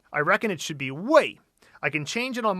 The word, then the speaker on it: 为: It's just a matter of the tone.